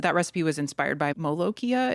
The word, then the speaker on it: molokhia: And you said that recipe was inspired by molokhia. Is that how you say it? Yeah, molokhia.